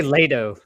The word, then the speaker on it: Lehto: you say it finished i say lato like late but then no one can ever spell it correctly if i say it that way so i think it's left like it's finished like lefty you're supposed to like aspirate the h or split though so